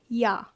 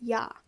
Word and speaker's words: ja: It just happens very, very often for Germans that you get kind of lazy, and again, evolution of words, evolution of vocabulary, evolution of pronunciation. It just so happens that ja oftentimes becomes yo.